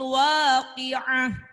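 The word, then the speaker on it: الواقعة: Kemudian contoh lagi di bawah, idza waqa'atil waqi'atu, tulisannya waqi'atu. Jadi tu itu berubah jadi kalau di akhir ayat atau di waqaf. Jadi bacanya gimana? Idza waqa'atil waqi'ah laisa liwaqa'atiha kadhibah khafidatur rafi'ah.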